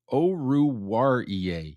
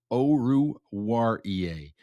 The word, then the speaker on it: Oruwariye: Oruwariye. Yes, I'm going to have to practice how to pronounce that one, but that is how you pronounce it. It's Amani Oruwariye.